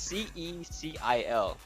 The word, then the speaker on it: Cecil: I think the pronunciation is Cecil. I don't know how to say his name. It's Cecil.